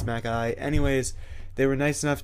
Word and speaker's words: Macally: MacAlly. I've heard a couple of people say Macally, but I believe it's MacAlly.